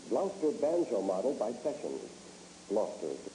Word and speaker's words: Gloucester: Gloucester is the correct pronunciation.